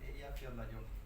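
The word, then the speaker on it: Eyjafjallajökull: Entonces, los separas en 3 y entonces es más fácil de pronunciar, pero sí, desde luego, la geografía islandesa es como el idioma, ¿no?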